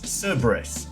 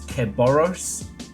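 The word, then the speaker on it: Cerberus: earlier today um where someone kept trying to pronounce Cberus as in the dog of the gates of hell as keos and I wanted to do a crime.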